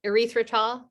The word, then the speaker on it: erythritol: Oh yeah, erythritol.